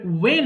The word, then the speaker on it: when: is your name what এরপর শুনেন দেখি এরপরে ওয়েন আছে WH এর পরে এই H এর উচ্চারণ দরকার হয় না এখানে ওয়েন এটা যদি